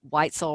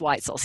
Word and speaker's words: Wetzel: shout-out to Kevin Wetzel I always want to say actually it's white so sorry I want to say it's white soul or what soul rhymes with pretzel and that's not it's white souls Kevin from outhouse thank